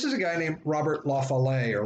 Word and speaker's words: La Follette: party and this is a guy named robert lafollet or la follette as he usually pronounced it and he comes from wisconsin which